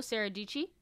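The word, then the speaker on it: Dietschy: And I know like do you follow Sarah Dici? Yes. Oh, so Rhymes with I know Peachy.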